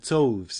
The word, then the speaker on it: toves: how to pronounce slivy toves the eye in slivy is long as in wraith and tovs is pronounced so as to rhyme with Groves again the first o